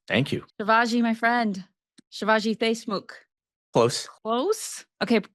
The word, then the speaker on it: Shivaji Deshmukh: Shivaji, my friend, Shivaji Deshmukh. Close. Close? Okay, correct my pronunciation for all of our listeners out there who have probably said it wrong many times. Shivaji Deshmukh. Shivaji Deshmukh.